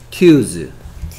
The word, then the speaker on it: Tuesday: Tuesday. T U T 소리 안 나고 Z. Tuesday. Tuesday.